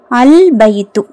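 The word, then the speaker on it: البيت: பாத்துரலாமா okay வாங்கஃர்ஸ்ட் இஸ்ம அல் பைத்து அல் பைத்து லாம் உச்சரிக்கப்படணும்.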